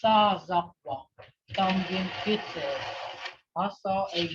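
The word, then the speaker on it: sasakwv: And when you say goose, that's what that is. Sazakwa. That's how you pronounce that. I know it sounds like that town. They say Sasakwa, but this goose here, it's Sazakwa.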